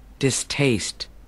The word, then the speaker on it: distaste: Do đó bạn sẽ phát âm cái từ này là Distaste.